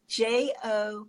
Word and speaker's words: Jophiel: It's Jophiel. Okay, like Raphael, Jophi.